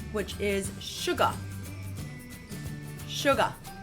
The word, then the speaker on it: Suga: which is sugar sugar so notice how short these sounds are we we're almost not even saying a full syllable we go sugar so in Korean we need to make sure they're a little bit longer than that sure car so